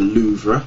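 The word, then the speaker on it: Louvre: was in Paris it's it's the uh the loua as as as it's pronounced which is this uh triangular sort of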